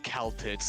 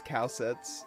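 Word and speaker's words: Kal'tsit: Anyway, I've been pronouncing her name as Caltits this entire intervalo. I think it's Calcets, yeah. I've been saying Caltits.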